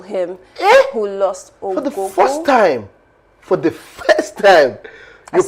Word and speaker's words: Ogogo: veteran Ogogo, as they call him, who lost Ogogo. For the first time, you right?